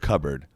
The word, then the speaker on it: cupboard: and puts his own toy in the cupboard. First of all, the word cupboard. I've never had to spell it before.